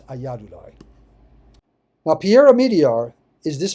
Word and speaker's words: Ayyadurai: I may have been pronouncing that Ayyudurai, it's Ayyadurai.